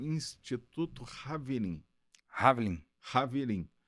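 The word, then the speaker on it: חברים: Haverim. Só que Haverim se escreve com CH, é Chaverim, Ah, que em hebraico significa amigos em hebraico. Haver é amigo em hebraico.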